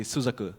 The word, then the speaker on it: Suzaku: why robod yeah yeah the right pronunciation would be suzaku suzaku suzaku suzaku so yeah you